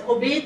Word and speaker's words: Obaid: to pronounce my name, I tell them it's obeyed, like the past tense of obey.